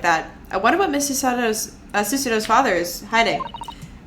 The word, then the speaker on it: Susato: I wonder what Miss Susato's father is hiding. I think I've been pronouncing it wrong this whole time. I was pronouncing it like it was Italian.